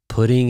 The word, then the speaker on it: putting: Putting it into something. Pudding. Pudding. Sounds like pudding that you eat.